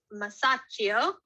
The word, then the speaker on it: Masaccio: brutal here's another artist masaccio these are pronounced as ch in italian and he is also